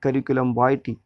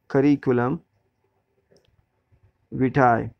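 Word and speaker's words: curriculum vitae: है, जबकि यूएस में, यूनाइटेड स्टेट्स में और अमेरिकन इंग्लिश में इसका प्रोनंसिएशन होता है वाईटी, करिकुलम वाईटी। But because in India we speak British language, British English, so we will pronounce it करिकुलम विटाए।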